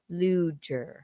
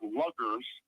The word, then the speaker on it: Luger: And I understand I've been mispronouncing your name, so I'm going to say Luger now. Not a problem. Yeah, not a problem. At least it's not luggers.